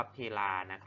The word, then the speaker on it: เพลา: ต่อ มา ที่ ลา คำ นี้ อ่าน ว่า พี่ ลานะ ครับ ไม่ ใช่ เพลา นะ ครับ ลูก นะ คุณ ครู